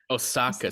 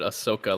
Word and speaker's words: Osaka: Osaka. See, I would have said Ahsoka like from Star Wars.